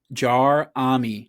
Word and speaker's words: Jerami: I'm right you I'm looking at his basketball reference pronunciation. Jarami Jarami Grant.